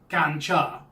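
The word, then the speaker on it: กัญชา: The drug is known as ganja, and it's pronounced gancha.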